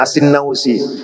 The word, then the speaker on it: As-Sanusi: As-Sanusi yang tadi sudah kita bahas ya. Ada yang membacanya As-Sinnausi.